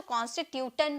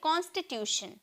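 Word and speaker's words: constitution: तो बहुत लोग इसे बहुत लोग इसे टन में प्रोनाउंस करते हैं क्योंकि ट का साउंड ट में टी का साउंड ट में निकलता है ना तो कॉन्स्टिट्यूटन कहते हैं लेकिन ऐसी कोई बात नहीं है इसे हम प्रोनाउंस करेंगे शन में ओके हम इसे प्रोनाउंस करेंगे शन में शन में हम बोलेंगे कॉन्स्टिट्यूशन कॉन्स यहां पर टी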